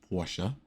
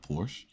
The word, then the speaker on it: Porsche: It's Porsche, not Porsche.